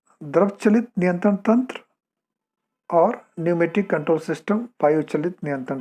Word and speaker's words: pneumatic: तो आप देखिए न्यूमेटिक की स्पेलिंग PNEUMATIC. इसमें P साइलेंट है, तो बट वी are pronouncing it एज अ न्यूमेटिक या वायु चलित.